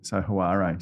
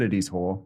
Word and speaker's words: Hoare: A bit scared of saying the surname, so they'll pronounce the A, so Hoare, but it is Hoare.